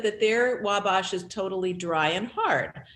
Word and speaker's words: Wabash: we must she's saying it's not pronounced with a broad a so that would mean wabash wabash yes anyway we stand